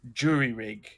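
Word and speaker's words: jury-rig: well like between because the english would pronounce it like jury rig because it's j u r y r rig and it's a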